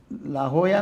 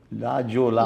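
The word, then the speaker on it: La Jolla: America खंडामध्ये Mexican याच्यामध्ये लाहोया नावाच एक अमेरिकेतल गाव आहे लाहोया आता त्याच स्पेलिंग कसं होतं एल जे जे ओ ओके एल ए लाजोला लाजोला पण उच्चार काय आहे ला होया ओके एल ए चा या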